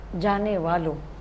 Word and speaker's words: جانے والوں: بھی دھیان دے لیں، جانے والا، جانے والے، جانے والوں، نون غنہ نہیں آئے گا، ٹھیک ہے؟